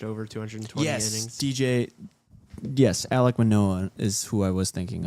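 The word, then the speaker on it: Alek Manoah: Alec Manoa is how you pronounce his name.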